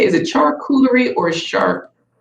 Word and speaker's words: charcuterie: you say, is it charcuterie or shark? How do you say it? Charcuterie. That's how you say it in French, right?